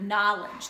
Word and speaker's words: knowledge: in school the word knowledge the word knife the word to know something the K is silent and then we have